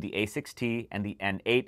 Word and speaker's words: N8: a 60 and the n8 it's actually pronounced Nate as it's named after Grammy winning bassist Nathan East now both of these